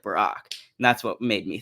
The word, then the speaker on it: Barack: funny thing is that the hebrew pronunciation is barack but um but the